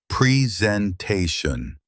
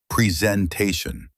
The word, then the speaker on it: presentation: Word number 4 is presentation. 5 sounds. Presentation. The stress is on te. Many people put the stress in the wrong place and say presentation, but it's presentation.